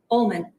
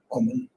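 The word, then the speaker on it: Ulman: How do you pronounce that? Ullman. Ullman.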